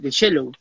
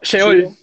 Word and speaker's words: Sheol: Aparte, cuéntanos el tema de Shallow. ¿Estoy pronunciando bien, Shallow? ¿Shallow? No, Sheol. Sheol, Sheol.